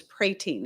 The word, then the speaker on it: prating: It was prating. It was actually pronounced. We listened to Alexander Scorby, and he pronounced it prating. It's only 1 T and no L.